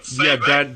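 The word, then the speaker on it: Fay Wray: They didn't give Fay Ray. Is that how you pronounce her name? Fay Ray?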